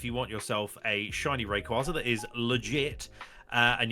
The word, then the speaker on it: Rayquaza: big hitter is a Shiny Rayquaza or Ray quaz however people pronounce it I think it's Rayquaza and that's how it should be I'm locking in Rayquaza K locks nice